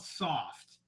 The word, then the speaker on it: Sawft: But it's just called Soft. But it's spelled SAWFT, remember?